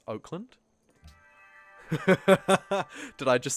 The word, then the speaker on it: Auckland: Auckland is just how NZ pronounces Oakland.